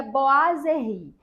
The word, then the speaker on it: boiserie: palavra então informação útil a palavra boiser se escreve boiser mas na hora de pronunciar se pronuncia boazeri essa é uma palavra